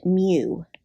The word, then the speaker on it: mu: M I'll put it in quotations here it's pronounced mu now you might see more notation on how